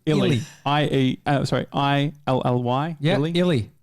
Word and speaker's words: Illy: you baby and is Lily Lily Lily you just butchered him illy IE i ly yeah